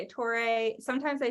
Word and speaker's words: Torre: it I say it yeah I say it Tori sometimes I say Tori like Joe Tori I've